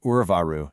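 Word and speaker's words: उर्वारु: The word Urvaru shouldn't heavily emphasize the U sound at the start. Instead, you need to stress the V or Wa sound right in the middle.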